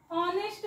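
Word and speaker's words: honest: इथे वाचावं लागतं अवर सो इथे सुद्धा ऑनेस्ट नसतं वाचायचं तर आपल्याला इथे वाचावं लागतं ऑनेस्ट ओके ऑनेस्ट सो हे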